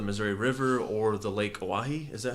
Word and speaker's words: Oahe: Yeah, they're no longer going to drill under the Missouri River or the Lake Oahe. Is that how That's you pronounce correct.